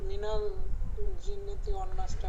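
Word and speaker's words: مِنَ الْجِنَّةِ وَالنَّاسِ: একটু মিনাল জিন্নাতি ওয়ান নাসটা বলেন। মিনাল জিন্নাতি, জিন জিমটাকে জিবার মধ্যখান থেকে শক্ত, মিনাল জিন্নাতি ওয়ান নাস। জিন শক্ত করেন, জিন গুণনা করতে হবে, গুণনা করতে হবে।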